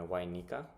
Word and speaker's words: Y9Nika: But you can pronounce it why Y why Nika? Uh cuz like nine is silent here like I'm French some French here.